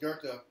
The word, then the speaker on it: Goethe: conscious in some way Johann Goethe goe tig pronounced Goethe read you know he was a naturalist and